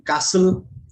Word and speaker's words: castle: T is also silent when it is part of STLE, as in castle, hustle, whistle.